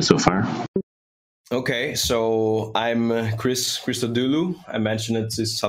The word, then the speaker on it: Chris Christodoulou: Okay, so I'm Chris Christodoulou. I mentioned it since a lot of people have problem pronouncing it.